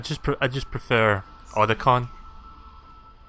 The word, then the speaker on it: Otacon: makes sense I just put I just prefer or the con like the way the way snake says that because that's like the most iconic pronunciation bad let's get out of here snake